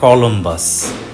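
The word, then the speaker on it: Cristoforo Colombo: ইংরেজিতে উনার নাম ক্রিস্টোফার কলম্বাস, ইতালিয়ানে ক্রিস্টোফার কলম্বুস। ক্রিস্টোফার শব্দে সি এর পরে এইচ আছে, কনসোনেন্ট, সে কারণে উচ্চারণটা ক। কলম্বুস এই অংশটুকুতে সি এর পরে ও আছে।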